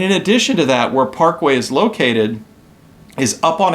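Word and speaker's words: Güell: to the next major gouty attraction which was Park way now how is way spelled it's like Gad e l yeah so it look it looks like Park Gul or something but it's Parkway is how it's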